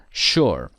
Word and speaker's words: shore: I told you before the two exceptions are Shore and sugar which are pronounced sh sugar and Shore what two ways can